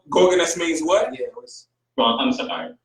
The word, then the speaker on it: Organus: Organus.